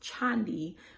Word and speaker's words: Chandi: me in person um it is pronounced chandi where a lot of people um whose name start with ch might pres pronounce it with the sh sound but I always tell people you go to church on Sunday you sit in a chair and my name is chandi so that's how you say my name and that's how you pronounce it chat with chandi Okay